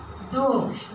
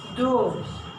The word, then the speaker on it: durch: You have the I and you have the CH also, be careful. Geteilt durch. So we have the CH also with the mouth, yeah? Durch. Divided by. Yeah? Geteilt durch.